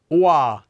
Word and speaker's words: 와: The next diphthong we have is a combination of the vowels o and a. Oa, oa, wa, wa, wa. We get wa.